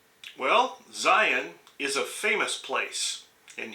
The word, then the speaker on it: Zion: any controversy over pronunciation the question is whether the last two letters should be pronounced like the on switch of a light switch zion good morning from zion